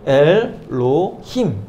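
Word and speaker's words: אלהים: 그래서 그리고 엘, 여기가 홀렘이잖아요. 홀렘이니까 오 발음이 나는 것이고, 그리고 여기 히렉, 그리고 요드 이렇게 붙었으니까 이 발음이 나는 것입니다. 이. 그래서 엘, 로, 힘 이렇게 발음이 나는 것이고요. 그리고 에트, 여기는 이제 무음인데 요게 째레라는 거예요.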